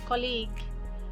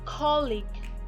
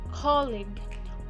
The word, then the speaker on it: colleague: often pronounce it as colleague which is incorrect we must stress the first syllable not the second one let's pronounce it correctly again colleague colleague we all know colleague